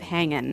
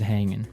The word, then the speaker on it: hanging: ing right yeah but usually you don't really pronounce the g in this context because it's very informal so how's it hanging how's it hanging so he said everything